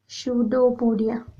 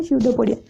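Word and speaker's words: pseudopodia: रे help करचंती okay स्यूडोपोडिया पी हूँ silent आपको पढ़ा जाए स्यूडोपोडिया तो ये हूँ तार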